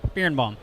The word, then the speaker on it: Birenbaum: Birenbaum. Birenbaum. Birenbaum.